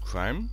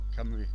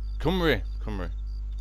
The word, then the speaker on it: Cymru: you pronounce it, but is it crime? Crum commando? Cymru. Cymru, that's it.